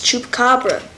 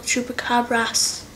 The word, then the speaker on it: chupacabra: caas it's not it's chupacabra well it's Mex it's Mexican so they call it chupacabras I know it said